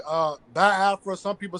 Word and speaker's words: Biafra: how to pronounce it some people say ba Afra because they don't really you know over understand the you know the pronunciation when it comes to the i e sounds but it's ba Afra because even myself even